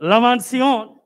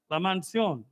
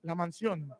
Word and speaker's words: La Mansión: you so much to La Mansion. Thank you, guys. Thank you so much on behalf of W107. Enrico, blessings, and the whole team. Love. The whole team. It's pronounced La Mansión. La Mansión.